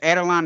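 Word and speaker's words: Adelaide: team the Adeline 36ers Adeline is that how you pronounce the name correct yeah yeah and the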